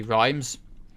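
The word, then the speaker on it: Reims: we were able to lay siege to rhymes and/or REMS rhymes how you say it you know there you go now it's actually rhymes we took some casualties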